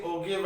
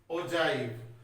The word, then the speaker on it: ogive: Some people say ogive and all, but the correct pronunciation is ogive.